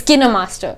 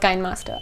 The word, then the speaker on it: KineMaster: and it's kind of it's kinder master it's not kind master i may i may just be pronouncing it wrong but yeah anyways uh